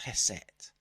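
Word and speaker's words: ḥst: But it's interesting, the word for music in ancient Egyptian is spelt in our words HST, but it's pronounced Heset.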